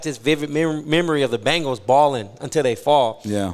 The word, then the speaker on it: Bengal: row to the Cincinnati Bengals okay this is a team that no one can pronounce their damn name the Bangles the Bingo it's a Bengal tiger right not a bangle a Bengal hangs off